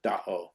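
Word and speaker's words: Dá'aw: pronounced as as or second A is pronounced as an O. Uh so do and the way to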